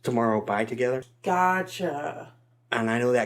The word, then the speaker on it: Tomorrow X Together: It's written out as Tomorrow X Together, but it's pronounced Tomorrow by Together.